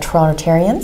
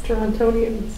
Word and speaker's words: Torontonians: Yeah, we're getting a lot of Torontarians. Yes. Is that the proper way to say it? Torontarians? Yes. No. American. No. Torontarians. Torontonians. Oh, is it really? Torontonians.